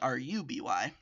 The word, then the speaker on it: RWBY: Just like RWBY spelled RWBY is pronounced RUBY, and is really fun.